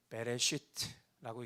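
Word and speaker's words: בראשית: 그래서 저것을 읽을 때 베레시트라고 읽는 것입니다. 베레시트.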